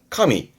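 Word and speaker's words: 加味: 가미 맛을 더하는 가미의 발음은 카미 카미 맛을 더한다는 얘기니까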